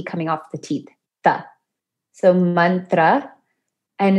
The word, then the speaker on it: mantra: definition of mantra so mantra is pronounced with a short a so man and not man so man and then tra and you rolled the r i mean not everybody can so you try your best to roll it and